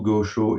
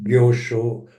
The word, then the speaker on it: Gyosho: je les prononce bien, Geisho, Gosho et Sosho. Aisho, Gyosho, Sosho.